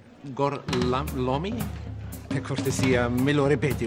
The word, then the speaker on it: Gorlami: Lo pronuncio correttamente? Sì, corretto. Gorlami?